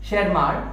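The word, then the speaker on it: Tschermak: थी Hugo de Vries, शेरमार्क and Correns. शेरमार्क में T silent है, तो इन 3 साइंटिस्ट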